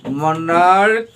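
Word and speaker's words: monarch: ব্যতিক্রমটা হলো যদি সিএইচ এর উচ্চারণ যদি কয়ের মতো হয়, সিএইচ এর উচ্চারণ কিসের মতো হবে? কয়ের মতো হয়, তাহলে তার সঙ্গে শুধুমাত্র আমরা এস যুক্ত করে প্লুরাল করব। মনার্ক, মনার্কস, বলো মনার্ক, মনার্কস।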